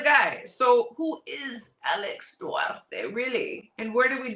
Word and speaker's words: Duarte: Who is, pronounce it, Durate? Oscar Duarte.